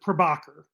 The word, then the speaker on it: Prabhakar: close enough it uh it's usually pronounced well it's usually mispronounced but uh my parents try to have me pronounce it prabhakar prabhakar okay oh sorry